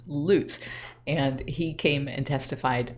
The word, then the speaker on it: Lutz: And his pronunciation is Sheriff Lutz. I don't know how to make that connection in your head other than the fact that he's a sheriff. He goes after bad guys who loot places.